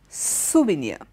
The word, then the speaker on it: souvenir: s o u we e and I our souvenir okay Sylvania means in memory of something so